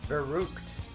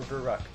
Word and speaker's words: Verrückt: Today we are going to be going over Verrückt, or Verrückt, however you want to pronounce it.